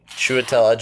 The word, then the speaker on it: Chiwetel Ejiofor: Yeah, it was starring Chiwetel Ejiofor. I definitely did not pronounce that correctly. Chiwetel Ejiofor. And I'm also gonna... Yeah, that was much better.